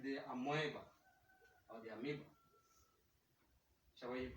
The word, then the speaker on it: amoeba: for simpler organisms like the amoeba or the amiibo you pronounce it so like the amoeba they have